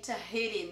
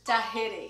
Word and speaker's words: Tahiti: Take a look at the way we write this, but we say Tahiti, not Tahiti, which is in Portuguese, right? But in English is Tahiti. Well, I'm mentioning this because Tahiti belongs to France, which is in Europe.